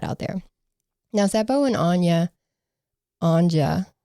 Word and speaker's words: Anja: Now, Seppo and Anja, you have to pronounce the J, also rode out there on Seppo's motorcycle.